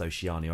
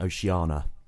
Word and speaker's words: Oceania: just say oceania um i only recently learned that it was pronounced oceania i kept saying oceana of course because there